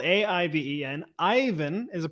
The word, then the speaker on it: Aiven: Aiven, spelled A-I-V-E-N. Aiven is a pronunciation.